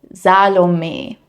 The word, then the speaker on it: Salome: But, in German, the final e is usually pronounced, even if it's very soft and unstressed.